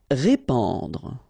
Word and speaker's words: répandre: Répandre. Okay, so here you get this AN combination, so the sound is en.